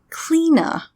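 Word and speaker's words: Cliodna: leona became an animagus apparently it's an irish name and it's pronounced clena so there you go cleena was a medieval irish witch there we go clena okay clena was able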